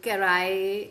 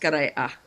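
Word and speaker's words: Karay-a: Moving forward, uh Anna, you emerged from um Karai um Karay group if I'm pronouncing it right. Karay, yeah Karaya. It's pronounced Karaya.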